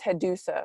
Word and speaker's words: Headusa: art of sucking dick so there's actually three different ways to say my name and you actually chose the one that i actually identify with the most so the first way to say it is hedusa right it's a play on